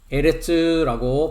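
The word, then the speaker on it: ארץ: 계속해서 구약성경 히브리어 문법 명사의 성에서 여성 명사의 에레츠라고 발음하는 땅을 계속 공부하는 중에 있습니다.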